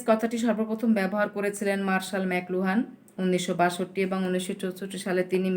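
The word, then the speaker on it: McLuhan: ওটার উচ্চারণ হবে কিন্তু ম্যাকলুহান। ওটার উচ্চারণ কী হবে, ম্যাকলুহান, MC লুহান না, কিন্তু ম্যাকলুহান।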